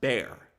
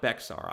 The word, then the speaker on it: Bexar: It's spelled Bexar, but it is pronounced Bear, not Bexar.